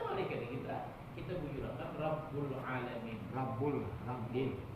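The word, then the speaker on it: ربّ: Rabbul. Jangan Rabbal tapi Rabbul Alamin.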